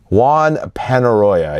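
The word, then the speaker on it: Juan Peñarroya: Did I pronounce that right? Juan Penaroya, yes, he's now the new coach.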